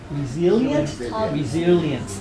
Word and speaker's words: resilient: Resilient. Yeah, we do become more resilient. Resilient, not resilient. Seriously, resilient. It's S-I-L-I. Not Z-I.